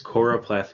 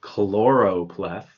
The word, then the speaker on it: choropleth: that i've made this choropleth map which is spelled c-h-o-r-o-p-l-e-t-h lots of people confuse choropath with another word chloropleth but if i'm making